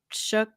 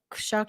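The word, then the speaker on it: Shough: They drafted a new offensive lineman and drafted uh Tyler uh Shook Shuck.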